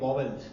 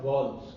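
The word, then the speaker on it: vowels: ये करते आए हैं वॉवल्स. क्या करते हैं? वॉवल्स. इसका एक्चुअल में उच्चारण वॉवल्स नहीं होता, इसका उच्चारण होता है वॉल्स.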